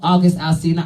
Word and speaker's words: August Alcina: I love August Alcina.